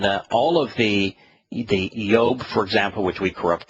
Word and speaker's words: Job: yaho is uh is the uh first two syllables of yah's name and uh all of the the yob for example which we corrupt to job and